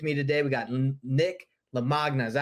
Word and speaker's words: Lamagna: Like with me today, we got Nick Lamagna. Is that how you say it, Nick? Yeah, close to that. Lamagna, like lasagna.